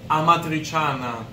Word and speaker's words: Amatriciana: Amatriciana. Oh my God, I want to try it, but I don't want to butcher it. Do you want to try to pronounce that? Amatriciana. Ooh, yeah, right. Amatriciana.